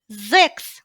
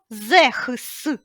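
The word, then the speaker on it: sechs: буде зкс зверніть увагу ми вимовляємо буквосполучення це ха не як х а як к зекс ми не кажемо зехс Ми кажемо зекс зібен сім ахт вісім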